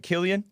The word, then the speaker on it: Killian: Am I pronouncing it right, Killian? Yep, yeah, perfectly.